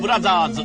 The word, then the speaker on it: Bros.: I actually remember my mom explaining to me why that spelling is pronounced brothers.